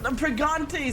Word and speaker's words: Pragmata: Bro, you didn't say it right. What did I say? Pragmata, sorry.